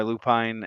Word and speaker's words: lupine: They nested under my lupine, or some people call it lupin. I call it lupine because it's spelled Lupine. It's a lupine.